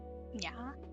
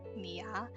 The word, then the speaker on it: nya: This is pronounced nya. So it's not nia, it would be pronounced nya.